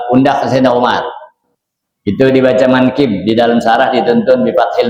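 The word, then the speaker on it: مَنْكِب: walhtin wal ya tahtiah kata-kata manqib di sini dituntun bacanya manqib dengan fathah mim ma wal kaf kasril kaf kafnya kasrah ya kemudian wal bail mu muahadah dengan ba yang bertitik satu.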